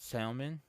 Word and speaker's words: salmon: Because I'm gonna be honest, if I don't pronounce it the way that she thinks I should pronounce it, the L is silent.